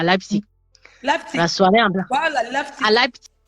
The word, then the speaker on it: Leipzig: Il y a Leipzig, donc le L-E. Le tu prononces le P là, le Leipzig. Leipzig, genau, c'est ça.